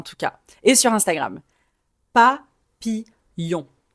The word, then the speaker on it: papillon: Papillon. Papillon. Le son dans papille. Le ye c'est un son qui existe en anglais. C'est le le premier son de yes.